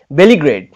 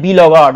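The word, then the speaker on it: beleaguered: 6 নম্বরটি দেখুন, বলেছে দ্য ওয়ার্ড বেলিগ্রেড, বেলিগ্রেড অনেকে উচ্চারণটা করে বিলগার্ড, উচ্চারণটা কখনোই নয়, বেলিগ্রেড উচ্চারণটা হবে, প্রোনাউন্সিয়েশনটাকে ঠিক করতে হবে।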